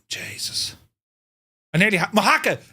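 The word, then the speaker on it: Mojácar: here near moaka and it looks like mojacar but it's pronounced moaka uh I think it's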